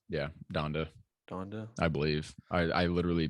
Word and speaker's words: Donda: Donda? Yeah, Donda, Donda.